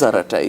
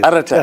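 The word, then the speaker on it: Arattai: and we have we have what is aratai? I mean for those who are not yet totally famili you are actually saying it pronouncing it exactly. Aratai aratai.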